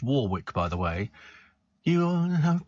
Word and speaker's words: Warwick: quite clearly rehearsed Dion Warwick and it is pronounced Warwick by the way you have to be a